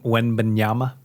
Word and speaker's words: Wembanyama: Victor I think it's- Wembanyama.